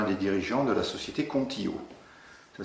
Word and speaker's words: Kontio: passé avec un des dirigeants de la société contillo ça s'écrit k o n t io ça veut